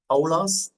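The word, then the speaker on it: Παῦλος: பாலாஸ், அப்படியே கிரீக் என்டே கத்துங்க ஈஸியா. ஓகே, நான் எப்படி ப்ரொனவுன்ஸ் பண்றேன் பாருங்க. பவுலாஸ், பவுலாஸ், அப்போஸ்டலாஸ், கிறிஸ்து, ஈசு.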